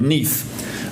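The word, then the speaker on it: Neith: And this is one called Neath, uh, which is spelled down here, nei.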